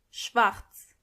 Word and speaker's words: schwarz: Black means schwarz. Schwarz. And make sure you are pronouncing the r correctly.